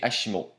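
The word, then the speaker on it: ASIMO: est l'acronyme de advanced step in innovative mobility prononcé hashimo qui signifie en japonais des jambes aussi bien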